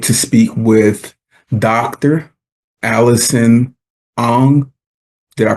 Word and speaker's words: Ong: Allison Ang. Did I pronounce that right?